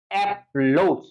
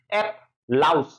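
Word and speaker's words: applause: ওকে, এরপর দেখো অ্যাপলোজ, তো অ্যাপলোজ যদি তুমি পড়ো, ঝামেলা হবে হচ্ছে এখানে তোমার ও আইসা পড়বে, তোমার মনের মধ্যে ও আসে পড়তে পারে, এই জন্য কি পড়তে হবে, অ্যাপ লাউস, লাউস, লাউ আছে না, লাউ কদু, যেই লাউ সেই কদু, ওই লাউ, অ্যাপ লাউস, লাউস, LAUSE।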